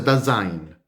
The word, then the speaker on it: Dasein: Ya veremos que el ser humano se dice, en el pensamiento heideggeriano se dice Das-Sein, le diremos Dasein, pero se pronuncia Dasein.